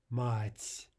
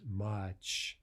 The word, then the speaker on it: мать: As we discussed yesterday, you may be tempted to hear that as mach, ch, right? But remember, that's an entirely separate letter in Russian and a separate sound. We want soft T, ts, мать, мать.